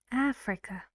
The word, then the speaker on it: Africa: interesting very fast Africa Africa one is sound and how many syllables three that's good and the stress is on the first syllable AF Africa what kind of